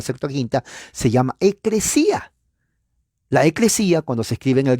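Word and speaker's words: ἐκκλησία: que prácticamente es una transliteración de la pronunciación eclesía, eclesia, eclesia, eclesia, eclesia, iglesia, iglesia. ¿Se dan cuenta?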